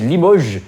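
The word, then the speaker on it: Limoges: others have probably done limoes or Lio or limo I don't know how to say it it's it's Lio if it's from sorry the French it's French fault the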